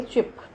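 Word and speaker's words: chip: अभी हमने देखा चिप, तो चिप में छोटी की मात्रा है और चीप में बड़ी है, इसलिए हमने इसको ये बस ये मात्रा लगाई तो ये चिप बन गया।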